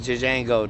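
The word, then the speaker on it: Django: before black he say my name is Jango the J is silent silent you're not even supposed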